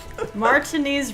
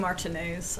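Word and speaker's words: Martinaise: ago now it's raining martiny rains you can never predict them yeah it's actually martines I pronounced that one wrong that's all right well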